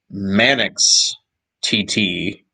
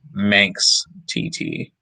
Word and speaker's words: Manx TT: motorcycle racing game and i want to pronounce it the proper english way and i believe is pronounced manix tt not how you would probably read it which is manx tt who's manix tt uh